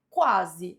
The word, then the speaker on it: quase: Então, a única palavra que não apresenta dígrafo é quase. A alternativa A, em quase, não tem dígrafo, porque as letras Q e U são pronunciadas separadamente.